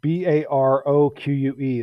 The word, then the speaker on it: Baroque: Baroque is pronounced Baroque.